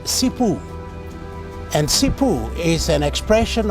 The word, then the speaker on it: Simbu: Chimu in the Kumar language is pronounced Cipu and Cipu is an expression of gratitude or appreciation.